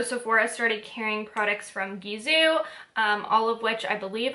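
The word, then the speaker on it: Gisou: work so it is supposed to be pronounced gizu in case you're wondering kind of like bizu and french which means kisses um so yeah gizu and it is actually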